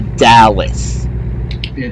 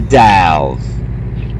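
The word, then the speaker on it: Dalles: of Ontario its Ontario the Dow's is not the Dallas it's the Dow that's exactly that's exactly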